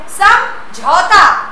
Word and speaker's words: समझौता: अगला शब्द है समझौता, डबल आओ है तो आपका उच्चारण भी उसी तरह होना चाहिए।